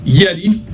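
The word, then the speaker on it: Yxti: my bad it's y-x-t-i Yeti y x t i y x t i pronounced as Yeti and it's called synaptic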